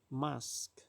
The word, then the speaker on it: mosque: Inggrisnya masjid itu adalah Mask qqemas tulisannya Mosque Tapi bacanya itu Mask I make di sini